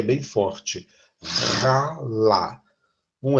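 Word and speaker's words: הלל: O verbo halá, o verbo ralá. Igual, mas olha como está escrito diferente. O verbo ralá e o verbo... O primeiro se pronuncia mais leve. Ralá. De maneira com um H aspirado no início.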